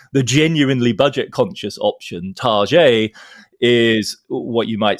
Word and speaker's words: Target: immediately which is that people refer to it by a ified pronunciation which they call it t and so you know whereas Walmart is the genuinely budget conscious option tar is what you might